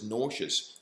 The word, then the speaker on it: nauseous: Of such puzzling words as nauseous, rhyming well with cautious, tortious, you'll envelop lists, I hope, in a linen envelope.